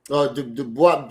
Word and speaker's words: Du Bois: Dubois, whatever his name is, I don't know how to pronounce it. You say all right. It's W.E.B. You can say Du Bois or Dubois.